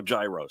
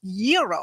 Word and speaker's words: gyro: in line at Papa Gyros I order the gyro Supreme suddenly the lady behind me chimes in it's pronounced Euro then the fow behind her says it's a gyro I turn my back